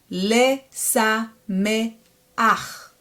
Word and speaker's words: Lesameach: But once it comes at the very end, you have to reverse it and pronounce it as ach instead of cha. Le, sha, be, ach. Leshabeach. Le, sa, me, ach.